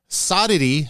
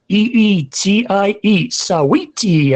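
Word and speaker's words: Saweetie: with a multi-platinum wrapper soddity i believe that's how how you say her name actually it's it's uh i'm i'm looking at it it's sweetie s-a-w-e-e-t-i-e sweetie i guess okay i i just can't it's like a play on sweetie i gotcha okay i'm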